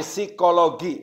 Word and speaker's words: psikologi: baca psikologi gitu ya jadi p-nya itu luluh ya jadi psikologi bacanya itu ya baik Nah itu